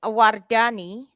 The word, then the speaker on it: Wardani: Spell it Wardani, Wardani?